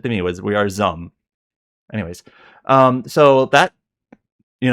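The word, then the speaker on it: ZA/UM: I finally learned how it's pronounced that Zaum. It's just one syllable pretty much. It's like Zum.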